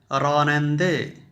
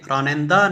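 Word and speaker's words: راننده: Driver ہے، driver کو رانندے، رانندے، رانندہ نہیں کہنا۔ ہم عام طور پر اردو میں اس آخر والی ہے کو الف کی آواز دیتے ہیں، لیکن فارسی میں اس کو زیر کی آواز کے ساتھ پڑھتے ہیں، رانندے۔ خوب، یہ ہیں مشاغل۔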